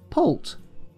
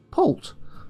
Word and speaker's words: poult: Okay, and it's pronounced poult, poult, poult.